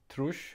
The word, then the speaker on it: trýss: 60, trush, short for old Danish tre sinds tyve, meaning 3 times 20.